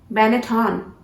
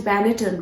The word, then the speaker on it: Benetton: Benetton. What? You guys have been pronouncing this brand as Benetton, right? But you were wrong. This brand has to be pronounced as Benetton. Benetton.